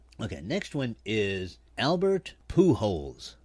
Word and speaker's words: Pujols: next one is albert pujols now that's the way the man's name is pronounced in spanish it's his last name